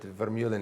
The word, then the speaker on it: Vermeulen: So my name is Vermeulen, as you would pronounce it in Dutch, but Vermeulen is okay if you want to pronounce it like that.